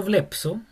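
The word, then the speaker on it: βλέψω: la pi, sigue sonando blepso. Esa así se pronuncia, blepso, pero se forma esta letra que es ps ps blepso. O sea, cambia la escritura, pero la pronunciación es la misma.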